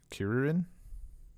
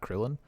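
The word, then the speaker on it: Kuririn: He was referred to throughout the entire thing as Kirin. Kirin. It's not it's not Krillin. And, Yeah, that's closer to that's like how they pronounce it in Japanese.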